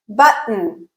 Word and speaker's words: button: Button. What I'm doing is after that first syllable, b, I'm using that glottal stop. I'm completely closing airflow, b, and then I'm adding the n sound.